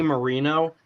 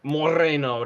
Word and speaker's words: Moreno: get senator Bernie Morino because you have to say it right you can't say Marino because that's not the proper Hispanic pronunciation you have to say it Moreno to please them just